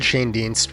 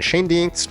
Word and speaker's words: Schoendienst: of Famer Red Schoendienst was mainly a second baseman, but he did play a fair amount of third, short, and outfield.